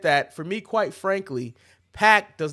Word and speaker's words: PAC: As for talking about Pac, I think Manny and I said this Pac. on it's pronounced Pac, but it don't matter what his name is.